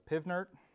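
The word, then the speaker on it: PV=nRT: When you're using the ideal gas law, PV equals nRT, I guess I could also say, some people just pronounce it as PivNert.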